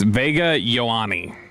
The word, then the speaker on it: Vega Ioane: It's Vega Ioane.